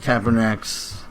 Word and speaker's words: Kaepernick: He says that he himself won't sit, but he agrees with Kaepernick's...